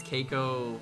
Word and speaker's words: Keiko: As we learned recently, he pronounces Keiko like K-A-Y Ko.